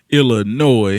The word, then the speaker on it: Illinois: Louis, Illinois. You know, of course, the S is silent on the end.